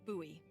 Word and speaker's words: Bowie: No, it's like the last name, like David Bowie. Different last name. Bowie. Are you just messing with me? No, that's how it's pronounced.